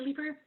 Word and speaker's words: Leaper: I think I've pronounced your surname correctly, but do correct me if I'm wrong. Is it Leaper, Head of Community Outreach at Bike for Good? Was that even close? Yes, Leaper.